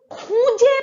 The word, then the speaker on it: খুঁজে: আমরা একটি বড় পুকুর খুঁজে পেলাম. To find something is খুঁজে পাওয়া. Now the N here indicates that this word is to be pronounced with a nasal twang.